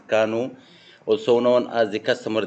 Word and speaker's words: Kano: The KANO analysis model or questionnaire, pronounced KANO, also known as the customer delight versus implementation